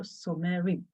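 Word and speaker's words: שומרים: So I have to pronounce this as M-E. E inverted E. So it's so me. And the one is rim. So somerim. I had to pronounce the schwa, somerim.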